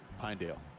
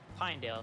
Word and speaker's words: Pinedale: Pinedale. Pinedale, thank you.